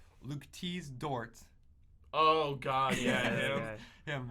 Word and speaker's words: Dort: As of recently, the starting shooting guard's name, Luke Dort. Oh God, yeah, him. Him. That's it. I believe that's how you pronounce his name. Luke Dork, more like it. No, Dort. Oh yeah, Dort.